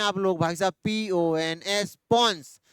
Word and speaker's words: pons: Hand का PONS भाई साहब पॉन्स बोलना है, बिल्कुल ही प्रोनाउंसिएशन में गलती नहीं करनी। हाँ जानता हूं शरारती बच्चे हैं आप लोग। भाई साहब PONS पॉन्स, ये क्या रेगुलेट करता है?